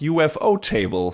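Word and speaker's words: ufotable: tricky with anime studios we recently heard from ufo table themselves that it's actually supposed to be pronounced ufo table so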